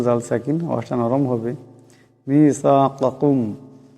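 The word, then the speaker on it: ميثاقكم: মিসাকাকুম, এখানে প্রথম কাপ বড় কাপ, পরেরটা ছোট কাপ।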